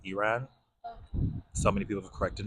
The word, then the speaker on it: Iran: No, well, that's the American way, but like the Arab way, I guess, is Iran.